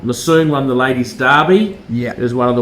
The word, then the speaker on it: Derby: The Earl of Derby. Yeah, I know. Derby is the American pronunciation, but the correct pronunciation is Derby.